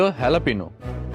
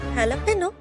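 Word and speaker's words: jalapeño: আর second হয়েছিল হ্যালাপিনো। হ্যালাপেনো? হ্যাঁ, যে দিয়ে শুরু হলেও উচ্চারণটা হবে হ্যালাপিনো।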